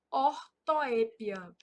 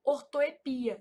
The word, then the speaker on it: ortoépia: Então aqui, ó, são erros de ortoépia. Essa palavra ortoepia, ela é um caso de variante, então ela também pode ser pronunciada assim, ó, ortoepia, sem acento.